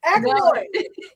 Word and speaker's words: Achelois: Achelois. Just do the CH. AK. Just do it AKEL. Akel. Okay.